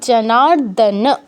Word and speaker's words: জনার্দন: জনার্দন কেউ বলবো না, ন ফুল উচ্চারণ হবে যেহেতু অ আছে, হসন্ত নেই, তার মানে সিয়া জনার্দন, ন ফুল হবে।